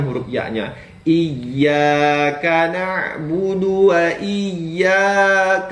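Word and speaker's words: نعبد: lagi iyaka naudu nah ini kesalahan pemula ini terkadang membaca huruf du ya nabudu Dya dipanjangkan ditambah huruf wau sukun ya jadi panjang nabudu iaka naudu tidak tidaklah seperti itu teman ya Jadi huruf du itu adalah ee pendek tidaklah panjang ya Jadi harus dibaca agak lebih cepat iyaka na'budu wa iya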